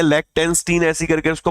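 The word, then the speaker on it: Liechtenstein: लेक्टेंस्टीन, ऐसे पढ़ो, लिक्टेंस्टीन, याद रहेगा मेरे भाई। ओके, इसका प्रोनाउंसिएशन ये लिक्टेंस्टीन, लिक्टेंस्टीन। फाइन।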